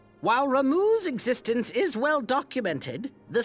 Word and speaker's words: Ramuh: Um I always pronounce it Rama. Rama. But they pronounce it Ramuh.